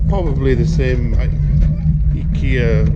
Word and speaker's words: Ikea: So we're in Ikea. In Japan they pronounce it Ikea for some reason. We call it Ikea.